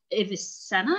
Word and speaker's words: Avicenna: intriguing uh writing by evanna is that how you pronounce his name yeah that's like the westernized way to pronounce it but in the islamic